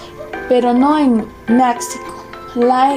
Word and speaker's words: México: En algunos nombres de lugares como México se pronuncia México.